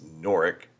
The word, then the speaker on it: Norwich: No W is pronounced, so it's Norwick, right?